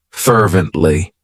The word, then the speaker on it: fervently: one of my favorites fervently it has three syllables and the stress is on that first syllable fervently what it means is